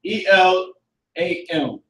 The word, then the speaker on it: Elam: You can put Elam, E-L-A-M. Elam, yep, Elam. Now, in the Hebrew, how you pronounce it is I-Y-L-A-M.